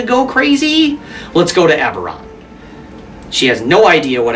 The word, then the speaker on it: Eberron: It's like, I think it's Eberron. No. A few moments later. It is Eberron. I was like, wait, is that how it's said?